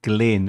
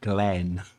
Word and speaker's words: Glyn: And pronounced Glyn and not Glenn. Yeah, Glenn. I said Glenn. Yeah, I know. Lots of people Glenn.